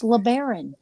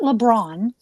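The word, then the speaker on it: LeBaron: For those of you that want to know my last name, it's Leberon, not LeBron. It's L E B A R O N.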